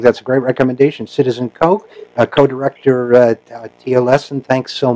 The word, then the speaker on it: Koch: That's Koch, rhymes with joke, but it's spelled Koch.